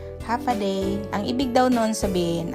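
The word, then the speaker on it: Håfa adai: day Parang ganon pero ang pagpronounce daw non ay half a day ang ibig daw non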